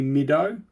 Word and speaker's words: Middo: Yeah, so people call me Middo. It's like you'd say middle. So it's the hard D's and the O at the end.